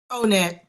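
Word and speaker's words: O*NET: to say that Lana how do you say that last one onet it is onet okay oh I see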